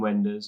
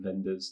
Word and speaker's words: Wenders: for sure yeah so that's like wind Wenders or even vendors depending on how you want to pronounce that but yeah he's incredible